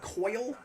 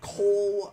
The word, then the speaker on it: Coyle: So, this is Coyle, not to be confused with Cole.